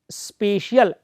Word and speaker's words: spatial: दोस्तों, 7 प्रकार गार्डनर ने जो दिए: भाषाई बुद्धि, लिंग्विस्टिक इंटेलिजेंस, तार्किक गणितीय बुद्धि, लॉजिकल मैथमेटिकल इंटेलिजेंस, स्थानिक बुद्धि, स्पेशियल SPATIAL। हाँ, मैं क्यों बोल रहा हूँ स्पेलिंग, एक होता है SPECIAL विशिष्ट, यहाँ विशिष्ट